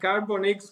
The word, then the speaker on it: CarbonX: you call it the carbon X am I pronouncing itre we call it like carbon X because it's like a carbon X you know